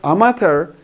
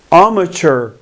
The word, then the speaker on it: amateur: really tricky so amateur this is how we pronounce not amater better to pronounce amateur amateur amateur means somebody who is not professional